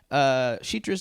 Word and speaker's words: Citra: Shitra's name pronunciation is closer to Shitra, like the CH sound for Chicago.